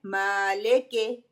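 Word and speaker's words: مَالِكِ: उसकी जो ज़ेर है माले के, उसको मजहूल, ज़ेर को मजहूल कर देते हैं। सही प्रोनाउंसिएशन क्या है? मालिकी, लाम कसरा ली, काफ कसरा की, मालिकी।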